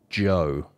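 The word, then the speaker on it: Djo: He's currently releasing music under the name Joe. I think that's how you pronounce it. D-J-O. Nice. Joe. Got that D in there, I like it.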